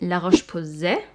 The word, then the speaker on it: La Roche-Posay: So I guess you would pronounce it La Roche-Posay.